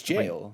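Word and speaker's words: gaol: jail mechanics and it's they're always spelled g-a-o-l what does it technically mean I think it means jail like that's how they just spell and pronounce jail like that that's how it's pronounced uh the cranes ones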